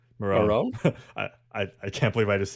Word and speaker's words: Morrone: Morrone.